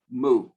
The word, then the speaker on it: mu: In fact, all of us in the class would go moo. because we could remember it that way, mu.